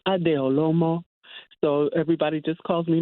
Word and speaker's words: Adeolomo: much for having me I hope I'm pronouncing your name correctly yes it is yes my full name is adeolomo so everybody just calls